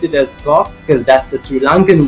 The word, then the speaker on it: Koch: me informed that the surname is to be pronounced as Koch.